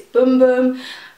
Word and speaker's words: Bum Bum: I've been confirmed that it's not bum bum cream that's not how you say it it's boom boom but I mean bum